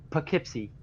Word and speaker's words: Poughkeepsie: at least at least less white folk we pronounce it Poughkeepsie took it Poughkeepsie yep but it looks like